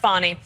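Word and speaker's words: Fani: fny F it's F spell Fanny but pronounced fonnie okay so she when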